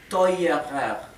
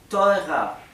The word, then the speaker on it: teurer: Así que teuer, el comparativo no sería teurer, sería teurer, por la R que pasa adelante.